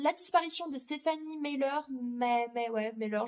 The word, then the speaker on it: Meyer: Et ensuite, toujours chez Cultura, j'ai acheté mais d'occasion le roman La disparition de Stéphanie Meyer, Meyer, je le prononce à la française, de Joël Dicker aux éditions de Fallois.